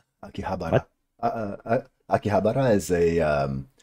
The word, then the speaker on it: Akihabara: I thought you were gonna say Akibahara. Akihabara.